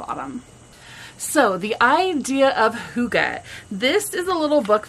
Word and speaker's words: hygge: So people have wondered, what is this word hygge? How do you say it? Is it hygge? Are you getting hygge with it? It's hygge, according to this author.